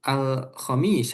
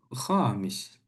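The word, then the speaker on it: الخميس: Terus Alkhamis hari apa tadi? Kamis. Kamis. Hari Kamis. Jangan bilangnya alkhamis. Khamis. Knya panjang. Karena kalau knya panjang itu artinya kelima. Oh. Askunu fiduril khamis.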